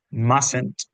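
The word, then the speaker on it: mustn't: un una silent letter en la pronunciación, si si nos fijamos, mustent, esa primera t no suena.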